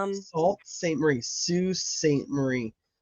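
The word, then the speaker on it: Sault Ste. Marie: Are you people telling me that it's spelled salt and it's pronounced Sue?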